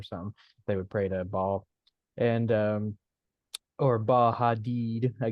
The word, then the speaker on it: Baal: The one that's standing up, that is Baal, or Americans a lot of times pronounce it Bel.